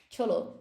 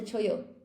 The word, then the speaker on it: chollo: Pronounce the double L, not a single choyo. It's un choyo. Cholo. No, it's a choyo.